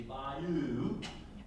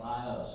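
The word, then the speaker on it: bayou: influenced by Louise so the Louisiana pronunciation would be by you but the old-timers around here thought by us you've got to throw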